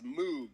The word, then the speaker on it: Moog: looks like it's Moog, but I'm the this guy's guy. name was Dr. Robert Hamilton. Moog. That's how he pronounced his own last name.